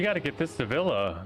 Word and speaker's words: Ville: SB Villa is spelled V-I-L-L-E, like it looks like Ville, or, you know, but Villa is how you pronounce it.